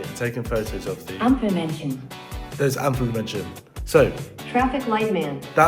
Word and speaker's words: Ampelmännchen: Ampelmännchen.